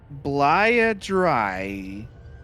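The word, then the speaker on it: Bleia Dryiae: of vowels in this one space can you pronounce it again for me blaia dry oh you said diarrhea last time dryer oh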